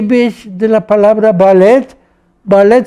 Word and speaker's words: ballet: Ballet se pronuncia al estilo francés, no ballet. No decimos ballet, se dice ballet.